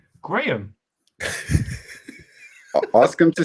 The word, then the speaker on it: Graham: You said Graham, as in what you measure. And how do you say it? Graham.